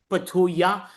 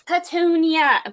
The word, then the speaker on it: Petunia: Okay, it's Petunia. Please say my name correctly.